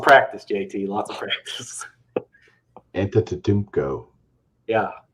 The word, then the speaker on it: Antetokounmpo: Can you please pronounce Giannis's last name for us? Antetokounmpo. Wow. Lots of practice, JT. Lots of practice. Antetokounmpo.